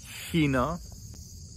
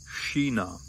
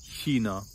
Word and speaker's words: China: would pronounce these words China, Chemie. If you find yourself in southern Bavaria or in Austria, a lot of people will pronounce it with a hard K. China, Chemie.